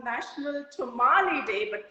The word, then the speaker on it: tamale: It's called National Tamale Day, but pronounced as tamale, but spelled as T-A-M-A-L-E.